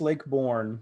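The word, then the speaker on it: Lake Borgne: I'll just Lake Bourne, as I understand it. Sean, is that how you pronounce it? Yes, Lake Bourne.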